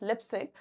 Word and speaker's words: Leipzig: Its pronunciation is Leipzig.